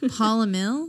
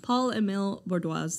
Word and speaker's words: Paul-Émile: pronouncing his name right paula mill paul emil okay but paul paul